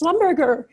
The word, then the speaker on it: Schlumberger: It's I a forgot great the French pronunciation. I always say it's like a concept hamburger restaurant or something. It's Schlumberger.